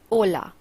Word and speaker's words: hola: in Spanish it is hola the H is silent next how do we